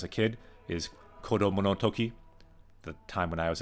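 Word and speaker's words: 時: learned actually it was Toki time this same kanji if it's after a number can also be pronounced G as o clock so to talk about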